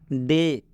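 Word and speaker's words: day: डे, डे में ए का उच्चारण ए से हो रहा है। ए बराबर, ये जो ए है, ए बराबर ए, डे।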